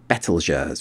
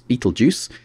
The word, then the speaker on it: Betelgeuse: famous for the big bright red orange star betelgeurs which some people pronounce beetlejuice and over here rigel another bright star in